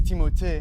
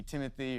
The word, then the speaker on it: Timothée: have to pay attention honestly it's timot but I would not oblige you to say it like that and it could be Timothy or Timmy or Doug